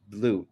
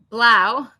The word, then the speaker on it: Blau: How are you today, Miss Blue? And I'm pronouncing your name right? Blau, but it means blue, so you're good.